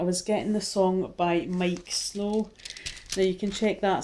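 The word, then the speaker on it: Miike Snow: So when I was tuning in your energy, Gemini, I was getting the song by Mike Snow. Now you can check that song out on YouTube. It's spelled Miike, Snow.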